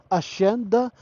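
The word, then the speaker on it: Hacienda: Asenda silent H yan ha. Asyenda Jenson Farm and Resort.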